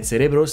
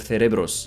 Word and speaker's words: cerebros: Because when I was in Spain, people were very strict about the pronunciation, and they would have corrected me if I said cerebros instead of cerebros.